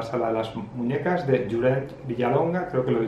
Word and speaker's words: Llorenç: He mirado en internet cómo se pronunciaba y me he dado cuenta que Llorent, que es Lorenzo en castellano, no se dice Llorent, sino la O es como una U.